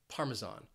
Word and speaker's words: Parmesan: on that first syllable one reason this word can be a little confusing is because that s has a z sound Parmesan Parmesan I'd like some parmes